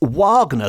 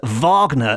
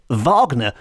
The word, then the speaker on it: Wagner: I certainly would pronounce Wagner the way it's supposed to be pronounced in the German which is Vagner as in Richard Vagner which makes it into